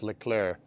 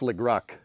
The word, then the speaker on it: Leclerc: It's pronounced Leclerc. Yeah. Yeah, dude, all that's going to do is just make me want to say it wrong more. So now it's Legruck.